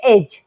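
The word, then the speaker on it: edge: पहले आया है तो यहां पर डी को नहीं पढ़ेंगे डी हो जाएगा साइलेंट तो क्या पढ़ेंगे एज ठीक है नेक्स्ट वर्ड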